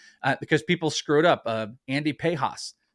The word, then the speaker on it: Pages: Andy Pejas. It's Pejas, not Pages. It looks like Pages. It looks like Pages, but it's Pejas.